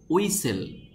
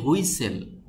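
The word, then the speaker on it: whistle: তো এই শব্দটির সঠিক উচ্চারণ হবে উইসেল। আমরা অনেকে বলি হুইসেল, হুইসেল বলা যাবে না, এটার সঠিক উচ্চারণ হবে উইসেল।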